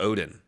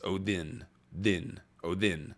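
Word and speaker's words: Óðinn: it's an it's a it's a different letter that's pronounced with a hard th so it's Odin is actually how you say it not Odin it's Odin din oh then like that so same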